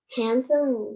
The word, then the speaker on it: handsome: wow yes emma um handsome man rhymes with ransom oh yes do we